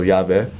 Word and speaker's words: Yave: Yave, of course, is spelled phonetically, so Yave. And Yave is like, ya tu ve, ya tu sabe.